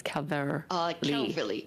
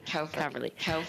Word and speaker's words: Calverley: Calverley, pardon me, am I pronouncing your last name right? It's Calverley. Calverley.